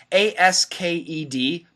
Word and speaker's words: asked: answer your question anyway a-s-k-e-d perfect pronunciation asked asked but if we say it fast we drop the k and we say asked i asked you a question t plus y equals ch i asked you a question